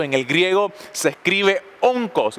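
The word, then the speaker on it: ὄγκος: Esa palabra peso en el griego se escribe onkos. ¿Y sabe lo que significa? Onkos con K. Onco, así como suena, O-N-K-O-S.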